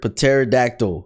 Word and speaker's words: pterodactyl: P is for pterodactyl, the worst alphabet book ever.